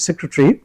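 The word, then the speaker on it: secretary: যুগ্ম সচিব যেটা joint সেক্রেটারি সেক্রেটারি সেক্রেটারি joint সেক্রেটারি সে স্ট্রেস দিচ্ছেন সেজন্য বাকিগুলো একটু অস্পষ্ট এবং ছোট্ট করে বলতে হবে সেক্রেটারি জয়েন্ট সেক্রেটারি তো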